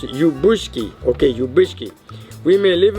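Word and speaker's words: Ljubuški: The second is from my town of Lubushki, pronounced Ubushki.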